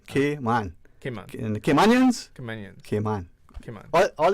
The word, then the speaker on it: Cayman: It's like a letter K. Okay. So phonetically, Cayman. M-A-N. Cayman.